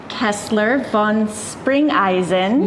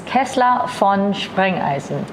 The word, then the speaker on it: Kessler von Sprengeisen: You did say it correctly. The German version is Kessler von Sprengeisen. Okay.